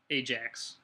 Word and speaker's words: Ajax: Holland ax but uh it's actually pronounced Ajax the J is hard here um we're goingon to